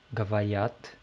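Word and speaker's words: говори: Então, gavor mais i, gavari. E a sílaba tônica continua na terminação.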